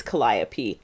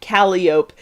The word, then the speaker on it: calliope: stream of yours, Caitlin, you said the word calliope and then wondered if you needed to correct yourself to Calliope, but it is calliope. The problem is, in Counterweight, Andy continued pronouncing it Calliope, even though Austin consistently said calliope correctly.